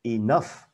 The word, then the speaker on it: enough: mình đã hàng cái enough nhấn vần thứ hai có nghĩa là đủ